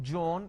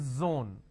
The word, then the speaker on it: zone: It's not John, it is zone.